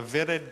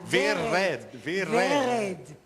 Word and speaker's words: Vered: as part of the vied gallery yes you almost said it right V red it's all right the r the are you know the Israeli red Galler oh that R has to roll it's the intention what